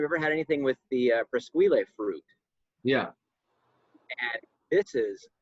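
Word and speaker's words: Presqu'ile: So it's actually pronounced Presquile. Presquile, yeah. K-E-E-L. They actually, on their T-shirts at the winery, it says Press Keel, and I'm like, oh, they're so cheesy, man.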